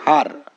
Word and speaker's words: her: এন হ্যান হয় কিন্তু যখন ই বর্ণটির পরে একটি আর আসে তখন এই ই বর্ণটির উচ্চারণ হয়ে যায় আ যার ফলে এইচ ই